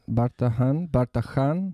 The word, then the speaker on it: Bardahan: Bardahan?